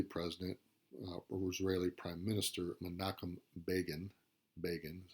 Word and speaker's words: Menachem Begin: So in 1978, the Egyptian president Anwar al-Sadat, pictured here, and Israeli President, or Israeli Prime Minister Menachem Begin, is how you pronounce that, meet with President Carter at Camp David.